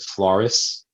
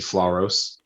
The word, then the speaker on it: Floros: The only track title that people pronounce incorrectly sometimes is people will call it Floris, but it's actually Floros.